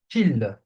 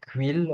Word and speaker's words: qui: Kill. It's kill, not quill or something like this.